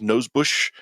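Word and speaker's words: Nosbusch: other than that Desiree I believe it's pronounced nose Bush uh the the star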